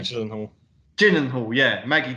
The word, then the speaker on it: Gyllenhaal: Jack Gyllenhaal. Gyllenhaal, yeah, Maggie Gyllenhaal.